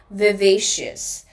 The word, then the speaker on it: vivacious: Okay, now mostly you will hear people using two pronunciations of this word. First is vivacious and the second one is vivacious. First one is vivacious and the second one is vivacious. Now remember, the correct pronunciation of this word is vivacious.